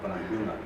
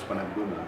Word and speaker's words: Panagbunga: Yes, it is Panagbunga is Kankanay word. So it has to be pronounced the way that the Kankanay pronounce it. So Panagbunga. And I think that's already clear. So you should pronounce it as Panagbunga, say how the Kankanay is doing.